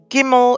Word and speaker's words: Gimel: Gimel is the fourth letter. It is pronounced as a G, as in good.